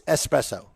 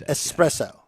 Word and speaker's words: espresso: it right like espresso there is no X It's s it's es espresso Ecentric okay do you